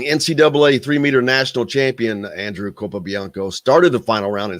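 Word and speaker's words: Capobianco: Kopianko, that's right.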